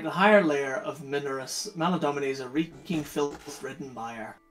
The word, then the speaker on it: Maladomini: Maladomini! Home of Big Slug! Right, how the fuck do you spell that one? Maladomini. Exactly as it sounds. M-A-L-A-D-O-M-I-N-E? Aye. Domini. Domini. Not Domine.